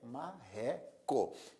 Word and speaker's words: marreco: veja que você pronuncia a palavra marreco e a sílaba mais forte é ré marreco é uma palavra que